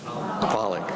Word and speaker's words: Volokh: want to hear you please say it in a way that rhymes with pollock so let's all say welcome professor pollock i think this